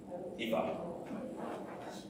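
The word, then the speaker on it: Aoife: A-O-I-F-E, Eva. Eva. Number 10. Who's got 10? Yeah. E-O-G-H-A-N.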